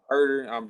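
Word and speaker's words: Huerter: You got Herder. If I say his name wrong, my bad. You got it right there. You got him. Okay, my bad. You got Herder.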